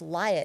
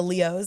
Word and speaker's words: Liot: And so it's it's not it's spelled L I O T. That's right. But it's pronounced it's pronounced Leo, like Leo the lion. Roar. Roar. Um and it's uh the T is silent. It's French, so it's a little sneaky like that.